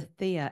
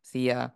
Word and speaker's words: Theia: planet migration with the Theia impact just by the timing? And I, again, maybe mispronouncing Theia, that is T-H-E-I-A. Yes, yeah, it's correct. It's fine.